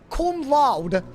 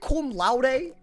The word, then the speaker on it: cum laude: What is it called when you graduate like cum laude?